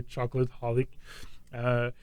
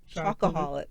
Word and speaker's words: chocoholic: video comes from another chocolate holic. So the question. He doesn't even know how to say it right. Chocoholic. Chocoholic. Oh, chocolate. No, I was a chocoholic. Say it correctly.